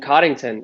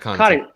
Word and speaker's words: Connaughton: And then Coddington, I always forget how to... It's Pat Connaughton.